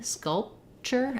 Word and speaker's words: sculpture: not saying sculpture sculpture you can see that I close my lips for the P sculpture and then I release into the CH but I don't have to let the P out I don't need sculpture sculpture it's an unreleased p and then sculpture the T sound really is just part of that ch sound inter sculpture um okay great